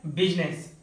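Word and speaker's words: business: क्या आप जानते हैं सिर्फ एक ऐसा वर्ड है जहां पर आई साइलेंट होता है और वो है बिजनेस।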